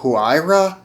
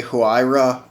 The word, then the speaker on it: Huayra: really pronounce that well this is the huayra i believe is how you would pronounce this uh i've heard a few different versions of like how people pronounce this but uh i'm going to say huayra a roadster is how i'm pronouncing it so let's get